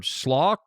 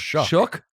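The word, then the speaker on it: Shough: In New Orleans, like Rattler or Schlock, how you say his name? Shook.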